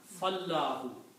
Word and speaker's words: فَاللَّهُ: When you combine these two, it's written like that this alif which is here is not recited because you combine fa with the lam. Fallahu.